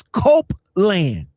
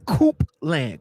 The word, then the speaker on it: Copeland: There's no R in your name, bro. But no, I'm still saying it. It's Copeland, not Coopland.